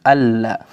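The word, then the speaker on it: ألا: Kalau ditulisnya alla, ya, alla taziru waziratu wizra ukhra, maka tidak boleh la, harus alla. Kenapa? Tulisannya bersambung, maka juga tidak boleh diputus.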